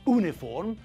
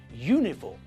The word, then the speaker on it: uniform: university uniform and European we pronounce all these words with a year sound at the front it's not university it's university it's not uniform but uniform and it's not European it's European so we have to